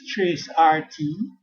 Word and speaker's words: tracert: Some says trace RT, some say tracer T, some say tracert, whichever one.